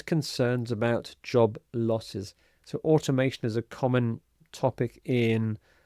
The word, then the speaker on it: automation: And the next word is automation. Automation. So we have the stress here. Automation.